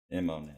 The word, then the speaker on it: Immonen: Am I pronouncing that right? Immonen, yeah.